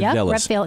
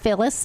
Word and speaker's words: Vilas: The more legislators, let's say Representative Vilas, did I pronounce it right, or is it Velas? Rep Vilas. Yeah.